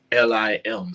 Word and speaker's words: Lim: And it's spelled LIM, so it's Out on a Limb, and we spelled it like that on purpose because the main character in the movie, his name is Lim or Lemmy or Lim, so we kind of did a